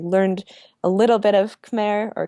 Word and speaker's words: Khmer: was beautiful i learned a little bit of khmer or quai as they pronounce it which is the cambodian language um